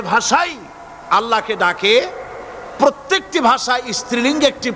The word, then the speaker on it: আল্লাহ: পাকের নামের উচ্চারণ হচ্ছে আল্লাহ মুখটা একটু গোল হয়ে যাবে বলেন আল্লাহ আল্লাহ সুবহানাল্লাহ পৃথিবীতে বিভিন্ন জাতি আর স্রষ্টাকে তারা যাকে স্রষ্টা মনে করে বিভিন্ন নামে ডাকে।